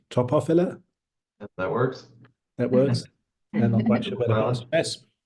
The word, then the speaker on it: Topophylla: and Eric Arneson, who have a business called Topophylla. Am I pronouncing that right? Topophylla?